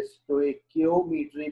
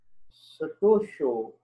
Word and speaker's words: stoichiometry: भी बोलते हैं और कुछ हजरात इसे स्टोइकियोमेट्री भी बोलते हैं। मैं आपको इसका उर्दू में लिख देता हूँ, दिस इज एक्चुअली स्टोशियोमेट्री, ठीक है, ये याद रखिएगा। ये इसका परफेक्ट जो प्रोनाउंसिएशन है वो है।